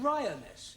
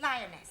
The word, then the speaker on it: lioness: lion roness lioness ress no l l r r you're not saying it right very sorry I know try saying roness lioness good well in future every time you see an pretend it's an AR right Anna yeah feminine of